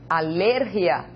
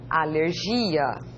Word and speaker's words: alergia: En español se lee alergia, en portugués se lee alergia. Observem a sílaba tônica que está destacada aqui, não é?